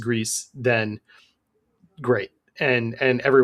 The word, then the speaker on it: Gris: I've always called it Greece, but yeah, I did confirm looking it up that it is Greece because like you said, the Spanish pronunciation is what it is, but I'm sure there's no incorrect way to say it.